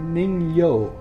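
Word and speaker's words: 人魚: And what it looks a lot like is a Japanese folklore creature called I hope I pronounce this right, a Ningyao. Ningyao, okay. Nigyo.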